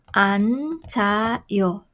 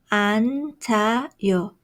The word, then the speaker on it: 앉아요: How do you pronounce this? 앉아요. You should sound 앉아요. Writing 앉아요.